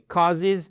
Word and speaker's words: causes: Important decisions which causes, pas causes, mais causes, vous voyez ici, causes, accentuation sur la première syllabe.